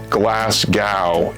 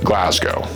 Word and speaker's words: Glasgow: It's not Glasgow, it's Glasgow.